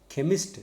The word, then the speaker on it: chemist: CH, chemist. It is not chemist.